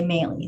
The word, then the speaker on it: Maylie: your deputy city attorney melee and if you ever forget how to say my name it's like haley with an m right so if you have to interrupt just say melee so going to the